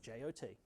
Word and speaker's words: JWT: It's called a JOT token. It's the first line of the spec for the JOT spec. It's pronounced JOT.